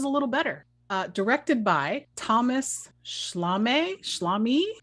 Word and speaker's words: Thomas Schlamme: Directed by Thomas Schlamme. Thomas Schlamme? Rhymes with salami? Yes.